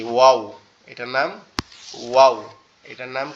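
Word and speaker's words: واو: এটার উচ্চারণটাও সহজ, আমাদের ঠোঁট দুইটা গোলাকৃতি হবে, হয়ে উচ্চারণ হবে ওয়াও ওয়াও এরকম ভাবে, ঠিক আছে।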